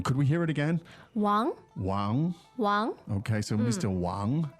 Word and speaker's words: 王: It's second tone. Second tone. Could we hear it again? Wang, Wang.